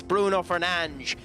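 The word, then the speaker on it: Bruno Fernandes: How do you feel about United's announcement that Bruno Fernanch, well, actually use actual pronunciation since he's actually staying with us. Bruno Fernanch has managed to announce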